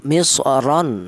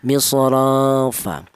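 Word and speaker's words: مصرا: Mis misron fa enggak boleh. Karena apa? Tanwin ini berjumpa dengan huruf fa. Fa ini bukan hurufnya izhar melainkan hurufnya ikfa. Maka tanwinnya ini harus dibaca ikhfa. Cara bacanya disamarkan tanwinnya ini. Misrofa.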